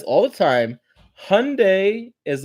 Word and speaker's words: Hyundai: Hyundai like Sunday.